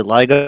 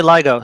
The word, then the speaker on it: LIGO: right I mispronounced just correct yourself and accept that it's called Lio dude Lio say ligo say ligo for me I'm not going to